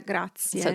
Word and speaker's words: grazie: So not grazie. It's not grazie. There's a e grazie that as Italians we always hear, or we can tell if you're not including it in your grazie. Sometimes as a foreigner, you may think that we're not really pronouncing it, but I can tell you that as fast as we're speaking, it's there. Yeah, grazie.